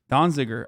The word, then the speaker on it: Donziger: Completely Donziger.